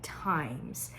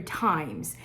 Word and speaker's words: Thymes: candle in this genre is from the company times times is spelled t h y n e s I